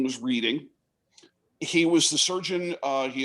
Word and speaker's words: Reading: Reading, and we're sure that he pronounced it Reading because it has been misspelled in many places as R-E-E-D rather than R-E-A-D. And of course, everybody knows Reading, Pennsylvania is R-E-A-D. It's not Reading, it's Reading.